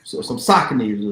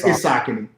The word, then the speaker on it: Saucony: I hope you got some Brooks on, or some Sauconys, or some some Hokers or something.